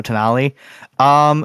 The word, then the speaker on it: Tonali: Is it Tonelli? Denali. There you go, Tonali.